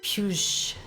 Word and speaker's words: Pujo: The G in Pujo is pronounced like the S in measure. Pew, pew, puge, puge.